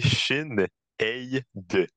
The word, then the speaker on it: Sinéad: Donc, ça dit Sinéad est prononcé Shin Ei de.